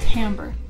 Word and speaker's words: timbre: very pleasant timbre yeah it's spelled timber but it said timbre and that bugs me but um their their